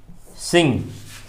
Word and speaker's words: sing: एक चीज और है कि जहां शब्द में आईएनजी लगा हो, जैसे सिंग, सिंग मैंने कहा ना, यहां भी इसका उच्चारण ऐसे ही लास्ट करता है, सिंग। ग नहीं, इसका उच्चारण हम सिंग नहीं कर सकते हैं। सिंग, सिंगर, सिंगिंग, ग नहीं आ रहा है बीच में। सिंग इंग, सिंग इंग। लेकिन यदि सिंगल कहना हो तो लिखते हैं ग।